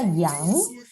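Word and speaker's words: 杨: el radical mu y se pronuncia yang, yangshu, significa álamo.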